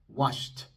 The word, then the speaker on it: washed: Así que esta D se pronuncia como T y como la T es sorda, soplamos un poco de aire después. Washed, washed, washed.